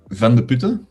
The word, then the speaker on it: Vandeputte: what you do um my name is van der puter so you were close with that pronunciation oh no cigar i